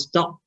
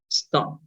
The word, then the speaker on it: stop: Do not pronounce stop. No, right? Just pronounce stop.